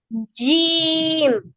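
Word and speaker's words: جيم: উপরে তালুর সঙ্গে তালুর সঙ্গে লাগাইয়া হ্যাঁ আরেকবার উচ্চারণ করেন তিনি জিম এইতো সুন্দর হয়েছে এবার আফসার বলেন জিম হ্যাঁ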